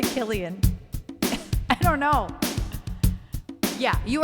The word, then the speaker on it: Cillian: Cillian Murphy Cillian Killian I just said Cillian I don't think that's how you say his name it's probably Killian I don't know yeah